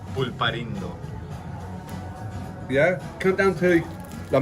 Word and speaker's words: Pulparindo: So, if you ever want to come down, how do you pronounce these? Polparino. Pulparindo.